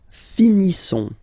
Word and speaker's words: finissons: Nous finissons. Okay, I-S-S-O-N-S. Issons. Nous finissons. Finissons. Okay, final S not pronounced.